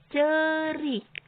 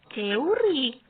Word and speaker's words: ceurik: Cerik. Sanes ceurik, sanes tapi dibacana cerik.